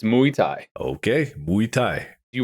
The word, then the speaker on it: Muay Thai: Is that how it's pronounced? Mu Thai. Mu Thai, not Muay Thai. M Thai. I literally made sure I've triple check. It's Mu Thai.